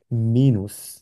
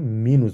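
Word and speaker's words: Minus: মাইনাস বলি আমরা ইংলিশে কিন্তু জার্মানে এটাকে বলা হচ্ছে মিনুস কি বলে মিনুস উচ্চারণ লিখতে কিন্তু ইংলিশের মত সেম কিন্তু মিনুস বলে কারণ এখানে এম ই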